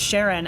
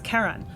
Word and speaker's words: Charon: So, I guess the community pronounces it Sharon after Charlene, but it's officially named after a mythological figure. So, and the correct way to pronounce it in that case is Charon, but in a scientific conference, you're not going to hear that pronunciation.